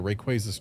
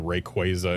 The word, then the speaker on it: Rayquaza: a in there and quazar isn't spelled like the quaza in Rayquaza and like yeah, just all of that. It felt wrong to pronounce it Rayquaza, but uh as soon